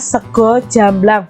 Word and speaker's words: sego jamblang: adalah sego jamblang nya ini bacanya sego jamblang bukan segar ya sego itu bahasa Indonesianya